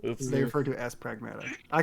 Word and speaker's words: Pragmata: I I think very very early in the game they say the word pragmata like as they refer to it as pragmata.